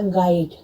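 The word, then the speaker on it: guide: यू अक्षर जब जी के बाद आता है तो किसी बावल से पहले आता है तब यू साइलेंट हो जाता है। जानिए कैसे। जैसे आपने लिखा गाइड, गाइडेंस, गार्ड, जी के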